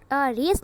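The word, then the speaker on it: Raise: R-A-I-S को राइस, sorry R-A-I-S है ना, तो इसे हम राइस नहीं रीड करेंगे, R-A-I-S है, राइस रीड करना चाहिए था. बट the correct pronunciation of this word is रेस, नॉट राइस.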